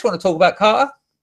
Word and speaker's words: Carter: Did you hear how I pronounced your name then? Carter? There's no T. It's very working class Southeast England.